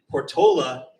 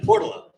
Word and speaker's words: Portola: We actually have two ways to pronounce the neighborhood. Portola and Portala.